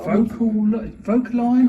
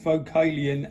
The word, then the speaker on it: Vocalion: Vocaline or vocalite? How do you pronounce that? Vocalion. It's Vocalion.